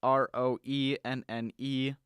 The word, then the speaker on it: Roenneberg: And the last name is, I believe it's pronounced Roneberg. It's Roenneberg.